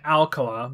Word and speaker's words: Alcala: as we saw um robert they keep saying alcoa but then other interviews come out alcala so ah i guess it's just the americanized either that or like they didn't care about pronunciation on tv back then yeah so cheryl was